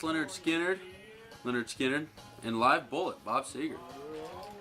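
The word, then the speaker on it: Lynyrd Skynyrd: Pronounced Leonard Skinner, And Live Bullet, Bob Seger.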